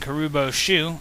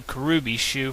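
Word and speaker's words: Kuribo's shoe: You can stomp on your enemies using Karubo's shoe. I have enclosed a jewel that helps protect you. Princess Toadstool. I've always pronounced Karubo's shoe Karubi's shoe from the Super Mario Bros. 3 TV show.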